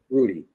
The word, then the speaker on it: Rudy: We went there often enough to have our own special waiter, Rudy, a name he pronounced with a rolled R.